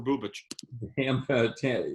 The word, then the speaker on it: Bubic: Again, Is it Bubich? I've been pronouncing it Bubik this entire time. It is Bubich, Scott.